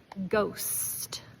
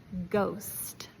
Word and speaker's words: ghost: Now, last two words are going to be with a silent H. No. So, you don't pronounce it. Ghost. Ghost.